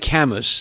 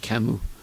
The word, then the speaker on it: Camus: It looks like Camus in English, but you pronounce it in French Camus.